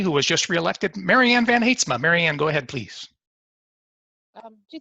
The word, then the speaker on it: Van Heetsma: And thank you for your service, Marianne Van Heetsma, excuse me. I pronounced your name in my head the first time, and I cannot get it out to get the correct pronunciation. Marianne Van Heetsma.